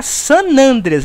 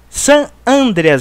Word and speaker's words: San Andreas: gta e nib séries mas é gta san andreas não é san andrés já tem vários pronúncia